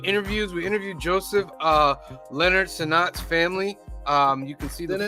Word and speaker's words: Senat: Is it Senat or is it Senate? Because Cliff just said Senat. All right, Cliff, get your thing right. Get it right. It's Joseph Senat.